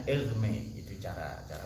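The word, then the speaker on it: Hermès: Idris bukan merek tas kalau merek tas itu cara bacanya elme itu cara cara bacanya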